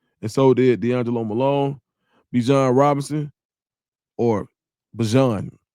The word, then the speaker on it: Bijan: And so did D'Angelo Malone, Bijan Robinson, or Bijan. Not Bijan, Bijan is how he said to pronounce it.